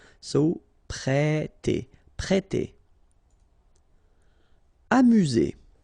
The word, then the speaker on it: amuser: Amuser. U, remember, U.